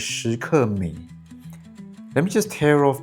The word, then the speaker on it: Skmei: So the Chinese pronunciation for this brand is Skmei.